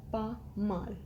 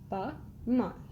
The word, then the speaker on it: pas mal: can say in French pas mal. Pas mal. S is silent here. You can say pas mal.